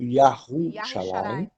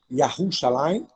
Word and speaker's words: Yahushalayim: Tomando por base essa afirmativa, isso caberia na questão do nome da cidade, que é normalmente pronunciada pelos judeus de Yerushalayim, devendo ser, na verdade, pronunciada como Yahushalayim.